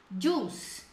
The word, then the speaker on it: juice: Não pronuncie esse I. Corte no I ali, ó. Juice. Na hora de escrever tem, mas na hora de pronunciar não. Juice, juice.